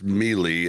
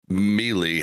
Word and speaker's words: melee: in college because like I Read Super Smash Brothers Melee as mely how it's spelled and uh yeah I had so many people be like Bob that's pronounced melee I was like oh okay